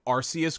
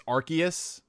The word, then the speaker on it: Arceus: I always pronounced it Arceus growing up until I heard them say it. It's Arceus.